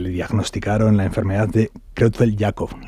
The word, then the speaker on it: Creutzfeldt-Jakob: Usted es el padre de José Manuel, un joven de 30 años al que le diagnosticaron la enfermedad de Creutzfeldt-Jakob. ¿La pronuncio bien? ¿Es así? Sí, perfectamente.